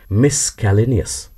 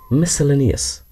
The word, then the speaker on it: miscellaneous: MISCELLANEOUS বলে থাকেন ভুল করে অনেকে মিসক্যালেনিয়াস। Actually this is মিসেলেনিয়াস। এই যে মিসক্যালেনিয়াস ভুল উচ্চারণ আর মিসেলেনিয়াস শুদ্ধ উচ্চারণ।